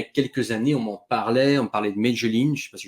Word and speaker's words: Medellín: Là, pareil, la Colombie, je me souviens il y a quelques années, on parlait de Medellín, je ne sais pas si je le prononce bien, mais Medellín, Medellín, ouais.